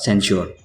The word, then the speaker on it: censure: सेंसर, सेंसर, सेंश्योर, तीनों words के pronunciation में थोड़ा सा डिफरेंस है। पहले दो वर्ड्स है उसके प्रोनाउंसिएशन सेम है, सेंसर, सेंसर। तीसरा वर्ड है उसका प्रोनाउंसिएशन होगा सेंश्योर।